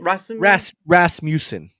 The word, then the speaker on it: Rasmussen: Rasmussen.